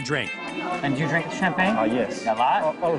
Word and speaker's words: champagne: Whatever you do, don't drink every time you hear the word champagne. I'm trying to say it right. You have to say champagne.